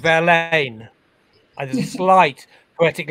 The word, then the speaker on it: Verlaine: english um it's uh rain rhymes with verlaine and there's a slight